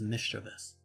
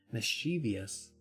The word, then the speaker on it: mischievous: heard the front door rattle open not correct pronunciation apparently it's mischievous that's correct mischievous is not but apparently because it's so many